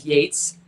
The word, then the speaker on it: Yates: Yates. No, but okay. it's funny because our priest said to him, how do you spell it? You know, is it Yeats? And he said, no, it's Yates.